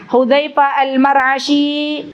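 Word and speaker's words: al-Mar'ashi: dari jadi kalangan shahabi hudzaifa al-marahi sebentar bacanya Bi fathil mim ya almar wafat ilmu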